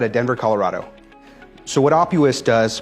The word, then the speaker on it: Opus: Denver Colorado so what Opus does pronounced like octopus is we are a